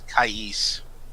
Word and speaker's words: Kais: I always pronounce his name as Kais.